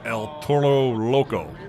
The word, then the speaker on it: El Toro Loco: This is El Toro Loco. You're supposed to roll your R there.